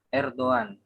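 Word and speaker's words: Erdoğan: Ya, Erdogan mungkin tulisannya Erdogan kalau orang-orang awam, tapi sebenarnya dalam bahasa Turki itu dibaca Erdogan.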